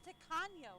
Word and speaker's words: Tacaño: Oh, it's Tacaño. Is that how you... I've been pronouncing it very wrong.